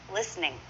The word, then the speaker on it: listening: listening is often listening listening say that with me listening notice the T is silent there that's not part of